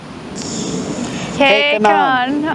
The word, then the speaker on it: Q'Kenan: We have finished our evening here at K-Kenan. I wanted to say Q again.